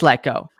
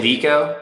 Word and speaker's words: Lecko: that's watching right now is your last name pronounced gecko it is let go okay see i thought in your bio it had showed with a g and i was like oh yeah i wrote it out hi phonetically it's like pronounced like gekko but that's good feedback i'll remove that okay yeah sometimes people say liko but it's let go i thought it was